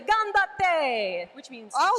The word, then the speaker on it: ganbatte: We could say ganbatte, which means I'll say that go. wrong. I'm gonna say you just say it like that. Ganbatte.